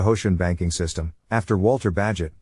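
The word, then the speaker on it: Bagehot: called a bega ocean banking system after walter badgett pronounced badget who wrote lombard street the first description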